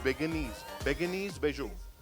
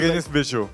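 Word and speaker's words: Bérénice Bejo: How do we pronounce the name of the actress? Beguenise Bejo. Berenice. Beguenise. Berenice. Beguenise. Yeah. Yeah. Yeah, that was Berenice Bejo.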